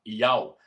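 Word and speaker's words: YHWH: Porém, ele é pronunciado usando apenas 3 letras desse nome, as 3 primeiras. Iod, Re e Vav. Iod, Re e Vav. Yau. A última letra, o Re, no final do nome do Eterno, ele é mudo.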